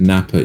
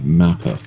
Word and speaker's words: Mappa: So there might have been a mispronunciation where you said Nappa instead of Mappa.